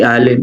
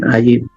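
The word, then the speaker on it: עין: So, silent letter, ayin. Ayin. Ayin. Sabihin natin, ayin. Ayin. Ayin. Ayin? Hindi Allen, Ayin.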